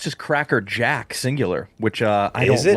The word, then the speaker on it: Cracker Jack: I think it's just Cracker Jack singular, which uh I don't love. Double mispronunciation to start. No S. There's no S. Cracker Jack.